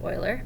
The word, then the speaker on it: Euler: today's lesson is on euler's method um and i know it doesn't look like that says euler but that's how you pronounce his name um so what this